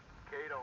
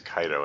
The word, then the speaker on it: Kaido: Cato and I need to talk. Uh-oh. Poor Kato. Or Kaido, I mean. We refer to him as Kaido, and I'm assuming that Hal is just mispronouncing his name.